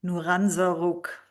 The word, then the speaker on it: Nouran Zarroug: Nuranza, now tell me please that I pronounced this correctly.